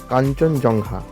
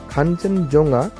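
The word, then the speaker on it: Kangchenjunga: কিন্তু ব্রিটিশরা একে ভুল উচ্চারণ করে নাম দিয়েছিল কাঞ্চনজংঘা এবং তারপর থেকেই কিন্তু এই নামেই সবাই একে চেনে। আসলে খানচনজঙ্গা অর্থাৎ যে আসল নামটি তার কিন্তু একটি বিশেষ অর্থ রয়েছে।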